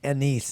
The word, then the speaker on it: anise: It's either way. It's You either can or. pronounce it either way. Okay. Yeah. But like for I'm pretty sure anise is the right way to say so it. we drink anisette. The anisette cookies. Star anise. Star anise. Yeah. You could say it either way.